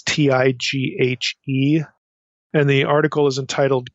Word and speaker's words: Tighe: appears online by William, I don't know if you pronounce his name Tighe or Teague. It's Tighe.